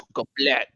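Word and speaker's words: сука блядь: So You never pronounce the Y. It's suka blet.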